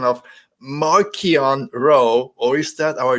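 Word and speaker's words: Marchion: Leia that's cool that's cool that's fine it's marquian it's marquian it's not Martian it's marquian bro it's right there CH pronounce it like okay which is funny because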